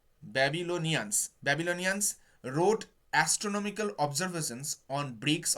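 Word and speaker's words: Babylonians: ব্যাবিলিয়ান্স, আমি উচ্চারণ ভুল বলছি গো, ব্যাবিলনিয়ান্স road astronomical observations on bricks of clay.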